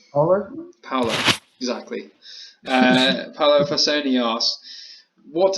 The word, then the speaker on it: Paolo: And then I've said his name wrong already. Paolo. I don't know how to say his name. Paolo? Paolo, exactly.